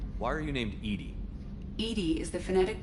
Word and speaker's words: EDI: is a jar why are you named Edie Edie is the phonetic pronunciation of EDI we know that it's an